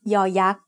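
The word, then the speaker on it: ย: As the initial sound of a syllable, it makes the sound y, just like the letter y in yes. As the final sound of a syllable, it adds the sound e that blends with the vowel, just like the y at the end of the words say and boy.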